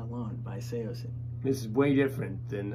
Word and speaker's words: Saosin: Saosin.